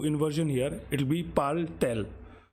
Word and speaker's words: parle-t-elle: We have put extra t because there will be two vowels facing each other, and just to avoid the pronunciation hurdle, this t is there, but it doesn't have any specific meaning.